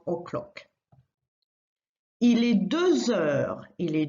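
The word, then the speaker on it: deux heures: Il est 2 heures. Il est 2 heures. It is 2 o'clock. 2 heures. And notice the Z liaison sound because heure starts with an H, which is silent in French.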